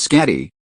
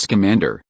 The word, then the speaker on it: Scamander: "His name isn't Skatty, it's Scamander."